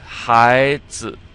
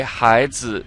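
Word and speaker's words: 孩子: So you come up with high, almost like high and low. So the result is high. And then we have the z. And remember, this z is, it's very light.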